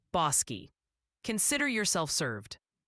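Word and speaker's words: Bosque: Oh, and the official ruling from the chat council is Bos County, Texas is pronounced Bossi. Consider yourself served. Bossi.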